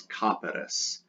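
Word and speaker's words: caperis: you add erus e-r-i-s so it's copperis copperis with an accent on the a copperis that's a weird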